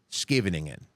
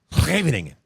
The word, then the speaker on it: Scheveningen: If you and I looked at it written, you would phonetically pronounce it Scheveningen. Okay, if you were a Dutch person, you would pronounce it Scheveningen.